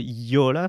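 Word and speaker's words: Jolla: Um and it's called the Yola phone. Um, it you spell that J O A L L A YOLA.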